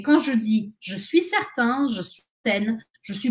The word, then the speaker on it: certain: que où je suis certaine que attention la différence de prononciation je suis certain je suis certaine les exemples je suis